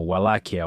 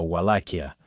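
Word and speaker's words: Wallachia: También en inglés diríamos algo como walakia o walakia.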